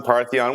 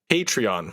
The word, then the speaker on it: Patreon: in new segment idea hipster Jimmy mispronouncing new technology and Trends hasharon panon paron what is it called again a paron Peron what is it patreon patreon patreon should we